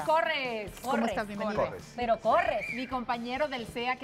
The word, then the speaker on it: Corres: Oye, ¿pronunciamos bien tu apellido o no lo pronunciamos Corres, bien? ¿No? ¿Es Corres? ¿De Corres o...? O Corres. Fabián Corres. ¿Cómo estás? Bienvenido. Pero Corres.